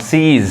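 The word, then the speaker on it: seize: आई आ रहा है अब इसको क्या पढ़ेंगे ई साउंड आता है लॉन्ग साउंड सीज समझ में आहा क्या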